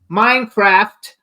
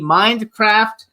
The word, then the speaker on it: Mindcraft: the book Minecraft Mindcraft I want to make sure I say it correctly because he corrected me before nicely but that actually saying I didn't say it correctly mind with a d Mindcraft the educational Singularity um